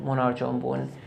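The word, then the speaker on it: Menar Jonban: like to talk about monarch jumban or how local people here pronounce it monarch on boon which literally translates as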